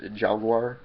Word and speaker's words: Jallguar: This dude, his name is pronounced it's spelled J-L-L Guar, G-U-A-R, so it's Jallguar, or it's a little hard to pronounce, and it's a little weird.